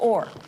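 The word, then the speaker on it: Oher: or he was taking it or it's pronounced over okay thank you um NBC Lady of not doing any such thing we're talking about Michael Orr who was taken in by the two weeks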